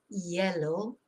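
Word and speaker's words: hielo: course is H ice it's pronounced yellow because you don't pronounce the h and what you will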